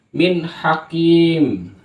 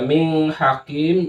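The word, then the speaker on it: من حكيم: dengan ha Min Hakim maka hukumnya baca Min Hakim bukan bukan Ming Bukan tapi min Hakim kalau dibaca mining Hakim itu salah karena di sini hukumnya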